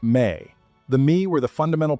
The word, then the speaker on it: me: The Sumerians had a concept they called the Mi, pronounced roughly like may.